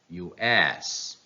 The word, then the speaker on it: US: Yes, the last syllable takes the stress. It means it should be pronounced louder, longer, and higher in pitch. So these two acronyms are pronounced like US, WHO, US, WHO.